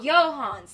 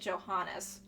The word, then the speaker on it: Johans: to help you out oh johans that's how it's pronounced I've been pronouncing it Johannes johans got it I